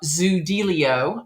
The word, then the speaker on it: Zoodealio: guess it was a newer company then uh zilio I'm pronouncing it correctly yes yes you are awesome